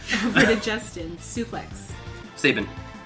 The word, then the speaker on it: Sabin: Sabin. Correct. Does it count that he didn't say the name correctly? How do you say it? It's Sabin. Sabine?